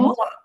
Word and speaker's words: moi: It's not mui, Mo. mua.